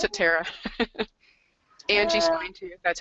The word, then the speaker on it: Tara: idiots that's my fault I've been answering to Tara or Tara all my life you know either one works you know I pronounce it Tara Angie fine to that's how you want to